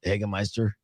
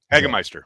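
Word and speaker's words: Hagemeister: I've always wondered also, is that how you pronounce it? Eggmeister. Eggister.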